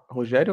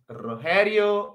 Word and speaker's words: Rogério: Rogério, agora? Manda. Ok. Então, eu sou Rogério, ou Rogério, depende de la región de la pronuncia.